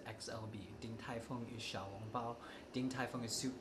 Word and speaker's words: xiaolongbao: Xiaolongbao.